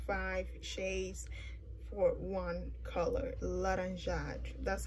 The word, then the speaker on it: laranja: of these like five shades for one color laranja that's how you say it laranjan black pretty